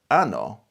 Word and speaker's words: ano: Anno is year, but anno is anus.